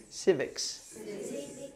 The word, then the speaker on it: civics: Civics. You have to put the S on the end. Civics.